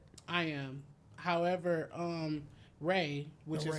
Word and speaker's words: Ra: Egypt they had a guy called sun god ra are you familiar with that I am however um ray which is how is how you pronounce it because like we didn't have um